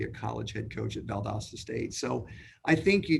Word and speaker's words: Valdosta: I know you had great success at Valdosta. Am I pronouncing that correctly?